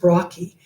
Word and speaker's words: brachii: it brachii um it's not pronounced bacon it's pronounced brocky but i like to pronounce it the way